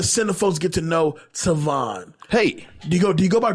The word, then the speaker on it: Tavon: I go by Tavon. Mr. I go by Tavon, man. I'm trying to get people to get used to that name because they mispronounce it so much.